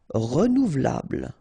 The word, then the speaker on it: renouvelable: Renouvelable. Look. Renouvelable. Remember, bl at the end. But then this E here is not really pronounced. So, renouvelable.